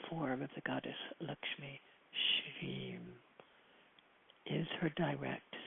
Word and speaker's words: Lakshmi: and her name Lakshmi which is pronounced to rhyme with luck which is I guess not a coincidence uh so it's not Lakshmi it's LMI um her